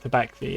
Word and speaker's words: Tabaxi: Tabaxi, yeah.